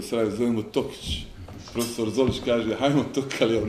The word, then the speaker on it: Tokić: Evo sad sam naučio akcent, jer mi ga u Sarajevo zovemo Tokić. Profesor Zolić kaže, hajmo Tokaljev napad. Evo sad sam naučio od našeg efendije da su ovdje Toke i da se kaže Tokić.